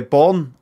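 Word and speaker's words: Bogen: glory is this snowy but it's pronounced born oh i'm just i call it bargain b-o-g-e-n it's getting cold bargain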